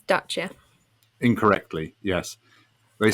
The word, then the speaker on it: Dacia: he always called it dacia and i think at one point might have pointed out it's pronounced dacha because it's romanian and that's how you say it but yeah this new